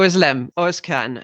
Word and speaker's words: Özlem: nice to see you nice to see you too who islam thank you so much for being here and